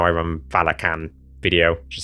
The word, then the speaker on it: Valachan: And I'm sad to see that I was wrong about Valachan. It is actually Valakan. I talked about this in the beginning of my how I run Valakan video.